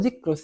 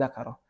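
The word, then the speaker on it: ذكر: Nah, disebutkan lagi wa dzikrus salasati. Pakainya isim tuh, bacanya isim masdarnya. Dzikru, bukan zakaro. Karena yang cocok itu, yang munasib.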